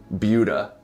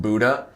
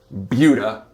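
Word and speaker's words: Buda: Austin suburbs right now and it is called bua do not be fooled if you don't live here it is not called Buddha you pronounce it bua so I don't want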